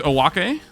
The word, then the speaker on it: Owake: All right, here's Owake. That is how you pronounce his name. It is not Oak. Common misconception.